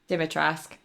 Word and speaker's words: Dimitrescu: Dimitrescu.